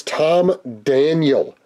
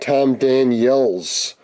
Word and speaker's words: Tom Daniel: It's Tom Daniel, not Tom Daniels. There's no S on the end of the name, so that should know that.